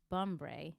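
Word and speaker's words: Bumbray: just search my full name which is bombre my last name is spelled b-u-m-b-r-a-y but everywhere else for just the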